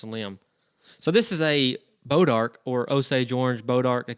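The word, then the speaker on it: Bois d'Arc: type of wood, but it's Bodark in Northeast Texas, what we call this thing, and it's spelled like Bois D Arc. So B-O-I-S. I got you. Little apostrophe thing, D and the arc, whatever.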